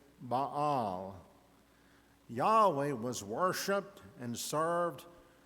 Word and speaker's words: Baal: they pronounced it Yahweh the other was the popular god of the Canaanites ba or as they pronounced it Baal Yahweh was worshiped and